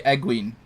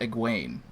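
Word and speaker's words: Egwene: my pronunciation you can't but you also say eggling when it's pronounced pronounced egg wain uh yeah well because i didn't need to look in the glossary to pronounce egween apparently you do though well yeah but so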